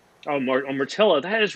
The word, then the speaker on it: Mortilla: Good, and it rhymes with gorilla. Oh, Mortilla.